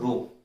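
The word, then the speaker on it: ρ: जिसको मैं बोलता हूँ रो। इस चीज को हम लोग क्या बोलते हैं, इस चीज को हम लोग बोलते हैं रो, प्रोनाउंस करते हैं रो।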